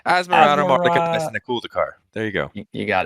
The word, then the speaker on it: Asmoranomardicadaistinaculdacar: we're going to be talking about, I can't pronounce this. Hunter, you had it down earlier. What are we looking at? This is Asmoranomardicadaistinaculdacar. Beautiful. You almost stumbled on that. No, dude. Asmoranomardicadaistinaculdacar.